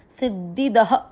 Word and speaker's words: सिद्धिदः: चौथा चरण, सी के साथ आधा द सिद्ध, फिर है धी और द पूरा, सिद्धि द, सिद्धि द में अ की मात्रा तो विसर्ग को पढ़ेंगे ह, सिद्धि दह, सिद्धि।